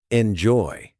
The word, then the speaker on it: enjoy: Enjoy. The stress is on joy, not enjoy.